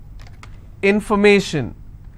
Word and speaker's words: information: If I have more number of syllables, information, first I will break it in information. So where do I stress? I will stress on may.